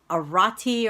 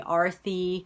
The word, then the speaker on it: Arthi: saying this right, but is an Arati or Arate here? They never knew how to pronounce it, and then I would have to kind of raise my hand, and I would always feel embarrassed. I would have to correct them and say it's actually Arthi, and then they would